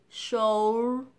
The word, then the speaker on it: shoulder: Như vậy âm tiết đầu tiên được nhấn sẽ là show chứ không phải là show. Nào, khi mình đọc hai âm tiết này các bạn sẽ thấy khác nhau nhé. Cách một là cách mà mình hay đọc sai này, show, và cách mà đọc đúng này, show.